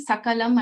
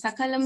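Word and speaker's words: सकलम्: So sa and sha again, if you change the difference in the meaning. Then sakrit and shakrit. Sakrit means immediately, at once, at together, like at once, sakrit. Shakrit is cow dung. So just by changing sa to sha, you find so much of difference in the meanings.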